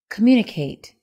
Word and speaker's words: communicate: Number one, communicate. The word stress is on the second syllable.